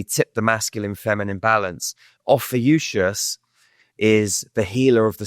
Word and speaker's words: Ophiuchus: So it's Ophiuchus. I'll spell it.